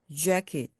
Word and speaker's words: jacket: 입술을 앞으로 좀 내밀면서 jacket, 재킷처럼 발음해 주시면 영어스러운 소리가 납니다. 한국말은 재킷 하면서 입술이 옆으로 움직이죠. 그런데 영어는 앞으로 입술이 나옵니다.